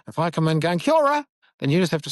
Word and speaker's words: kia ora: If you walk into the staff room and go, kia ora, and they go, oh, you don't actually pronounce it like that. You have to roll your R. You have to say kia ora.